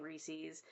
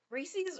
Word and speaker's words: Reese's: I correct people when they don't say Reese's actually because Reese's rhymes with pieces.